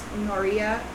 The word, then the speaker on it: Norea: You pronounce it Noia, but it's Norea, Norea.